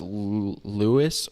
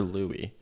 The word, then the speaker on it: Louis: louis is this version is this pronounced lewis or louie alicia l-o-u-i-s is that louis or lewis it is louie l-o-u-i-s louis i think it could be both maybe i don't know